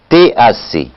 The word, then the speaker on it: TAC: La dureté carbonatée, ou si vous préférez, le titre alcalimétrique complet qu'on prononce TAC.